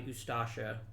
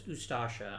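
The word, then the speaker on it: Ustaša: are you fascist yeah the ustasha or is it i think it's ustasha i think the uh the stress is on the second syllable ah croatia is hanging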